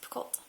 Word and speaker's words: Picoult: by Jodi Picoult, and I've heard it pronounced a couple different ways, so we're going to pronounce it Picoult.